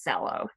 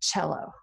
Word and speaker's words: cello: There's no H in it, but because it's an Italian word, you don't say cello, you say cello.